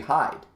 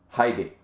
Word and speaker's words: Hyde: speaking like the Japanese if it was English it'd be Hyde because it's hide that's the word it's HDE but in Japanese in Japanese animes that I've watched for a long time they pronounced it Heidi you know and in the uh bloody Monday um Drama Series in Japan there was a character named Heidi and it was pronounced Heidi spelled Hyde pronounced Heidi so I've never